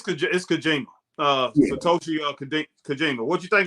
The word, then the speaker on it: Kojima: Yeah, it's Kojima.